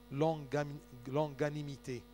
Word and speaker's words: longanimité: vous comprenez ce mot longanimité la patience de Dieu ça se prononce comme ça l o N G g A n i m i T e accent d'accord c'est la